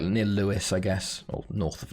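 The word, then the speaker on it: Lewes: that's called Lewis like it's pronounced Lewis but it's l-e-w-e-s not is it's Lampard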